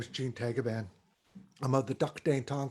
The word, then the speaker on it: Tagaban: And on my Filipino side, my last name is Tagaban. In the Philippines, it's pronounced as Tagaban.